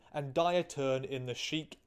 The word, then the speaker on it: Chic: So yeah, things took a pretty sudden and dire turn in the Chic, I actually think it's pronounced Chick, in the Chic sounds better, no, Chick storyline.